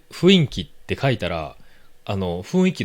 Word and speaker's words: 雰囲気: 、あの、ふ、雰囲気じゃなくて、え、雰囲気が